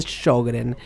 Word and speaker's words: Sjögren: Se escribe Sjögren y se pronuncia Sjögren.